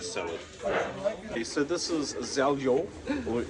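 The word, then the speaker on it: Željo: Okay, so this is Zeljo, or Zhaljo. I don't know how you say it, but it's Z-E-L-J-O. It was recommended to us. J is silent.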